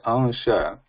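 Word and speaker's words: अंश: But when we say ansha, a is not becoming nasal, but there is a nasal sound following a ansha.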